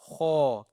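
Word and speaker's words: خ: And then we have Kha. This is the bold word. And with the full mouth.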